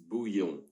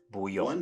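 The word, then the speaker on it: bouillon: Let's say it all together. Buyon. Buy. One more time. Buyon.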